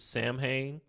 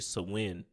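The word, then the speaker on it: Samhain: G Festival it's in the English we were pronounce it Sam H but it's really um if we look at the actual pronunciation it's actually swin in the Gaelic or the Irish all right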